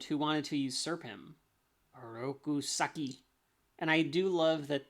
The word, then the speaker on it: Oroku Saki: do love that the every time that splinter says oroku saki goes rousaki like he always rolls the r on a rokus saki so that it's probably the proper way to say it way to say it